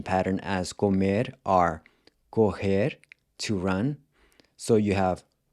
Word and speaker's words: correm: But in the next two forms, the pronunciation of the O changes to an open O. Corre and correm.